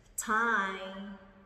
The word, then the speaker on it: tie: Rồi, tie, bật chữ T này. Tie, tie, chứ đừng đọc tay nha, nhớ chưa?